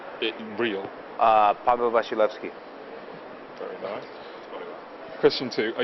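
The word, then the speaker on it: Paweł Wasilewski: Can I pronounce my real full name on camera? Uh, my real full name real uh Pablo Bashilki.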